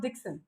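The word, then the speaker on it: Dixon: they'll do so the surname is pronounced as dickson okay how is it pronounced d i x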